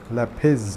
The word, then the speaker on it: lapis: now did you see lapis or lapis I've heard somebody people say it like so many people I need to say so many people say it like piss I'm pretty sure it's lapiz no I say please